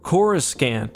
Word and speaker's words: Coruscant: time you'll hear that coruscant is not pronounced like coruscant but specifically with a second hard c chorus scant and this is one